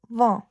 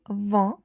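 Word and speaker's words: vingt: 20 in French is V because we have in here okay and it gives a nasal sound V. Okay. And G and T are not pronounced.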